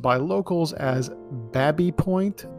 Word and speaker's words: Baby Point: pronounced by locals as Babby Point, to rhyme with tabby or cabby, in an approximation of how James Baby pronounced his surname.